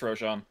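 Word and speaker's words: Rosin: man this is is it Roshan is how you say it it's Roshan Roshan some of you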